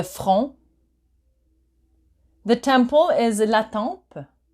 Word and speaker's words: front: So you don't pronounce the T. Le front.